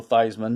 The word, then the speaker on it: Theismann: this is a joe theismann his real name is actually thiesman was changed as a publicity stunt to rhyme with the heisman trophy 1971 toronto organized these